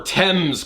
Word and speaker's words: Thames: I mean at least I pronounced the River Thames correctly even though it's spelled with an H and an a all right so skipping